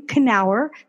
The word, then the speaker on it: Kenower: His name is William Kenower.